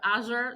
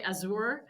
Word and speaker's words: Azure: I say Azure, some other people say Azour. So there is no consensus within the organization of that.